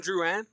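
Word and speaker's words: Drouin: It's like Jonathan Drewan like in the NHL.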